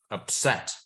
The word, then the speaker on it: upset: Upset. Column 2. It's column 2, Think. yeah. Yeah, it is. Because I stress the set, right?